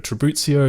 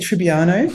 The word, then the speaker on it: Tribuzio: And thank you for the right pronunciation of my surname, which is often mispronounced in the Australian context. What do you normally get? I get Tribbiano, probably because people watch a lot of Friends. There's no N in there.